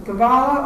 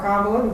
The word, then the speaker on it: Kabbalah: it was very interesting the kavala or kabbalah depending upon how you want to pronounce it is the occult jewish